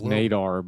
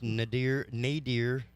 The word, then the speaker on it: nadir: a celestial sphere directly i thought it was nadar but maybe i'm just uh well it's nadir nadir on both of them um emphasis on the first is the point on the